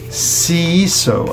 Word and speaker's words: Seeiso: Now for Prince Harry, and this Prince Seeiso, I suppose that's how that's pronounced, S-E-E-I-S-O, regarding the South African orphans of Lesotho and Botswana.